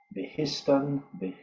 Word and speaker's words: Behistun: I was actually looking this morning at the Behustin inscription, if that's how it's pronounced, I'm not sure. This isn't an inscription that was found a long, long time ago. Behistun, it's B-E-H-I-S-T-U-N.